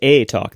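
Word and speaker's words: eTalk: think might be Canadian uh they talk it's pronounced a talk then nicely done um so on it talk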